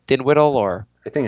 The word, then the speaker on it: Dinwiddie: Yeah, which the and the skills competition went to Spencer Dinwiddie or whatever. How do you pronounce his name? Dinwiddle or?